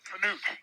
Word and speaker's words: Knute: And I am pronouncing it right when I pronounce it with the K, because that's how the Norwegians do it. Am I right or wrong on that? That is correct. Okay. Knute, yep.